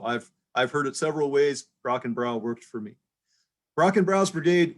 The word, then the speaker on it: Brockenbrough: And I am basing that off the pronunciation of the smartest man I know, Mr. Tim Branscombe. He says it's Brockenbrough. That's good enough for me. So I've heard it several ways. Brockenbrough worked for me.